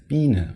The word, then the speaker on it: Biene: AE equals Ä, OE equals Ö, UE equals Ü, and IE results in a very long E sound, as in Biene or Knie.